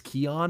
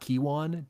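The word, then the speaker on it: Keyjuan: which I apparently learned it's Keon and not Kiwan despite his name being spelled K E Y Juan.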